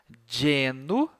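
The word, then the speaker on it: genu: tchum tibus a palavrinha a letrinha G quando ela está na frente de um e e de um I ela tem esse sonzinho de de de certo como na palavra dia né a gente fala de di então mesma coisa olha lá Geno joelho em latim mais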